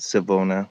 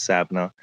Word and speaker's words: Savannah: Now, they're native, but they were driving up the hills around Savannah, or some people pronounce it Savona, but it's Savannah, up in the mountains.